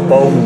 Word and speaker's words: Boon: Spelt boon, pronounced bone apparently.